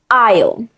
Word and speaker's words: aisle: Now let's talk about the word aisle. It looks strange because it has an S, but we don't pronounce the S.